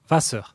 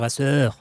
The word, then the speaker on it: Wasser: Généralement, en allemand, de l'eau en allemand se dit Wasser, en insistant sur le va. Un allemand qui veut imiter un français parlant allemand va dire Wasser, insistant sur le sœur.